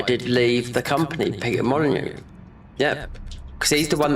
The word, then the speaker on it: Molyneux: That Peter Molyneux, which, like Molyneux, how it is pronounced, his name, it's like a French name, right?